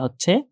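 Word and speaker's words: ح: এই ফোঁটাটাকে বাদ দিয়ে দিলে যেটা থাকে সেটা হচ্ছে হা। এটা হচ্ছে হা, নরমালি হা অনেকটা বাংলা হয়কার হায়ের মতো। আর এই যে হাটা আছে এটা উচ্চারণ করতে হয়, আমরা যে খাবার খাই,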